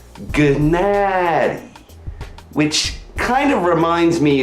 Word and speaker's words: Gennady: remember my very first episode when I repeatedly mispronounced golovkin's first name genady Golovkin gened might be limited what's in the